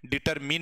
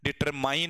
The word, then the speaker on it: determine: ये भी क्या है, डिटरमिन है, डिटरमाइन नहीं है।